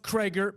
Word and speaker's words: Krieger: It's spelled Krieger. It's pronounced Krager.